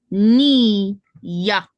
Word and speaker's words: Nia: It's pronounced ni-ya, ni-ya, ya, ya, ya, ya, ya, ni-ya. Nia is a Kwanzaa principle that means purpose.